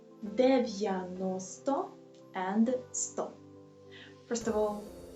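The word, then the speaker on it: дев'яносто: In Ukrainian we pronunciate it like 90 and 100. First of all, here 90, we have 4 syllables, and the third one is stressed, 90.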